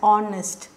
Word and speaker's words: honest: is so honest honest H is silent so you just pronounce it as honest she he is so